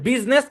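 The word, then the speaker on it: business: Silent I যুক্ত দুটা শব্দ পাওয়া যায়, একটা হচ্ছে বিজনেস, একটা হচ্ছে পার্লামেন্ট। বাস এই দুটা শব্দ মনে রাখবেন।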